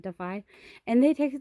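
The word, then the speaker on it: DAFI: boxes to send to defy which is disabled artists Foundation Incorporated it's d-a-f-i but I think they pronounce it defy and they take like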